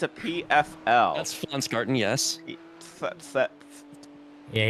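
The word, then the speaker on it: Pflanzgarten: That's FL garden. Yes. Yeah. You don't pronounce the P basically.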